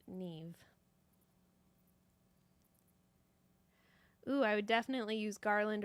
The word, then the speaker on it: Niamh: It is spelled uh N A I H M I believe, but I have been told it's pronounced neve.